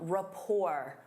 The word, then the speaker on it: rapport: Instead of saying, "They work well together," you can say they have a strong rapport. Rapport. Notice that T is silent.